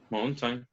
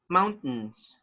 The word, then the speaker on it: mountain: say mountain or mountain mountain okay actually the letter t is not pronounced you say mount mount mountains and instead of and